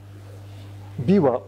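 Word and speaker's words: 琵琶: Biwa, we say biwa, pipa. Pipa 的例如的发音是 biwa.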